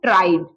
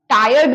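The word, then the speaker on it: tried: ट्राई का थर्ड form ट्राइड। टायर्ड मत कर दीजिएगा, टायर्ड थकना होता है, या ट्राई, ट्राइड, ट्राइड, प्रोनाउंसिएशन देखिए, ट्राइड।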